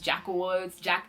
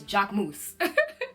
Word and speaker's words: Jacquemus: wrong and the people have been saying Jacquemus, Jacquewoods, it's Jacquemus. That's how you pronounce it.